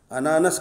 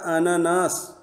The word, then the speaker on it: اناناس: بولتے ہیں، لیکن عام زبان میں جو ہے انانس کہتے ہیں ہم اس کو، بگڑی ہوئی شکل انانس وہ ہے، صحیح تلفظ اس کا کیا ہے؟ اناناس، بعض لوگ انناس بولتے ہیں اس کو، لیکن صحیح تلفظ کیا ہے اس کا؟